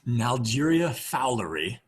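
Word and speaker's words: Naegleria fowleri: I'm just gonna do my broken pronunciation. Nalgeria fowleri.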